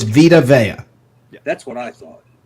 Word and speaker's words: Vita Vea: Is it Vitavea, Vetavea, Vevita, or It's Vita. The correct pronunciation is Vita Vea.